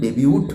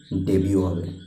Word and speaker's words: debut: প্রোনাউন্সিয়েশনটা কিন্তু ডেবিউট হবে না, যদিও লাস্ট লেটারটা টি আছে, প্রোনাউন্সিয়েশন কিন্তু হবে DEBUT থাকা সত্ত্বেও কী হবে? ডেবিউ হবে। প্রোনাউন্সিয়েশন লাস্ট যে লেটারটা টি, সেই লেটারটার কোনো প্রোনাউন্সিয়েশন হবে না, ডেবিউ হবে।